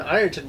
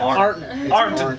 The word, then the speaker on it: Ironton: And as soon as I got old enough, unfortunately, around me in Ironton, we had a comic store for like 5 minutes. You pronounced it wrong. Yeah. Arnton.